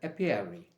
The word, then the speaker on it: apiary: of the year recap it is called an appear arry it's called an apiary a p i a r y a p